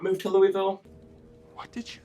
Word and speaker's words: Louisville: is louisville kentucky louisville say it right it's not louisville it's not louisville either we say louisville you'll get it if